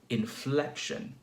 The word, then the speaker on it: inflection: Inflection, inflection. So we have a stress on the second syllable, inflection.